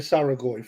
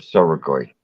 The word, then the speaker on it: Soragoi: There is no A in the start of Soragoi. It's S-O-R-A.